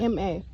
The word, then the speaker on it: Ma: In Masai, we speak Ma language. Ma. Is, like yeah. M-A. Yeah, Ma.